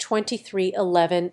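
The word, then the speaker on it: 23XI: was confirmed to be 23 Roman 11 racing pronounced 2311 and the team's entry would bear no 23.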